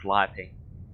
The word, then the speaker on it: calliope: in on a horse-drawn calliope. Also, yes, I know a lot of, traditionally in the circus it's pronounced Calliope, but no.